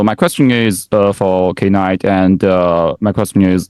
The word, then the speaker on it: Knight: the first of all his his IDE is pronounced as kight is not night yeah okay uh so my question is uh for K night and uh my question is you know it's